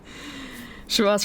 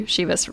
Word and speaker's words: Chivas: can can find Shas Regal oh that's actually not how you pronounce it cuz it would be shivas Regal wouldn't it I'm thinking about more